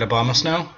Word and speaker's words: Abomasnow: It's going to be Abomasnow. You got that right, Abomasnow.